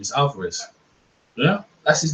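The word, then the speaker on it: Álvarez: surprised yeah alvares I don't know why it's alvaris man I they call alvares see they call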